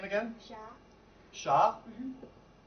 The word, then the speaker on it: Sha: Sha. Sha? Mm-hmm. How do you? S-H-A. Just Sha. Yeah. Okay. Most Chinese words were monosyllable.